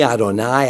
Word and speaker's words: Adonai: word Adon Adon adoni Adonai adoni I'm I'm speaking ashkanazi here because the spartic pronunciation is the A and the a are just the a that distinction my father